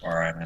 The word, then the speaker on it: Bara: very long time ago how to pronounce his name he said it was Bara uh but he said it's fine if I he says people say bar all the time and I decided